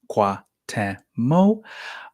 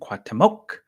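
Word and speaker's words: Cuauhtémoc: Again, three syllables, Quatemo, or you can say the C at the end, Quatemoc.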